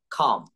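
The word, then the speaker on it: come: কিন্তু না, সি দ্বারা যে সকল শব্দ গঠন হবে সেগুলোকে আমরা খ উচ্চারণ করব, খ। এগুলো আমরা কি বলবো, খ। যেমন কাম বলবো না, আমরা বলবো খাম।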